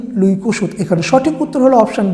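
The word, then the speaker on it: Louis Kossuth: C Bismarck option D লুই কুসুত এখানে সঠিক উত্তর হলো অপশন ডি লুই কসুত এখানে যে লুই কমুক আছে উচ্চারণটা হবে লুই কসুত 10 নম্বর প্রশ্ন শিল্প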